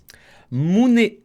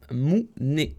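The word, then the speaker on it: 胸: la poitrine se dit en japonais Alors, comment prononcez-vous la poitrine en japonais? Oh, bah, c'est ça, vous l'avez. Mune. Mune.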